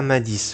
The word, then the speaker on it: Medis: Donc eux ils prononcent ça Madis. Ok, moi je prononçais ça à l'italienne avec les deux C, mais bon.